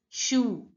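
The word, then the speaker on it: chou: speaker again sit home cabbage is pronounced as shoe shoe now CH you already know we have discussed in this video that CH is pronounced as Shu sure CH is pronounced and o u is sound when it's written together it is pronounced as so it becomes shoe shoe now listen to the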